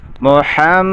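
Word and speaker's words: مُحَمَّدًا: আলিফ গুন্না হবে মোহাম্মদার এখানে কিন্তু অনেকে মোহাম্মদ বলে ফেলে বলে এখানে কিন্তু মোহাম্মদ দূর হবে না হবে মোহাম্মদ ইন্না আন্না আন্নালাইতালা এসব শব্দের পরে যদি ইসিম আসে তাহলে সেখানের মধ্যে শেষে নসা অর্থাৎ জবর দিতে হয় ইসিমের শেষে অতএব আন্না মুহাম্মাদার মাদার বলতে হবে যদি দূর বলেন তাহলে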